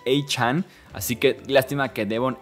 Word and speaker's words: Achane: Antes se pronunciaba Achane. Y él mismo salió a decir, ya no, quiero que me digan Achane.